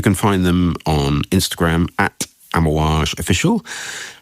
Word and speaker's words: Amouage: If you want to find out more about Ammoage, and why wouldn't you? You can find them on Instagram @amoage official. That's ammoage is spelled a m o a ge official.